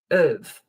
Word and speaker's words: have: And a point about pronunciation, the have is not usually pronounced like have. It's normally of because it's not emphasized.